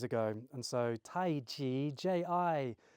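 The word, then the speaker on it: 太极: And so Tai Chi, Ji, is actually how the Chinese pronounce it.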